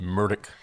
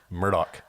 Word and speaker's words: Murdaugh: you pronounced that wrong that is true murdick not Murdoch so sometimes it'll be